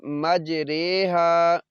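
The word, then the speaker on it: مجراها: سب سے الگ ہے۔ اس کو پڑھتے ہیں مجریہا، اس کا تلفظ جو ہے نا مجریہا ہوگا، یعنی جیسے ہم اسے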